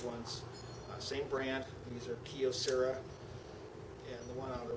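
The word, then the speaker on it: Kyocera: These are Kiosera. And the one on the roofer, Kiosera or how some people pronounce it, Cosera, whichever kind of pronounced the Y in it, Kiosera.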